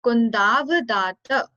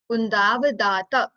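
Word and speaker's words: कुन्दावदात: So Kundavdata. Kundavdata. Kundavdata.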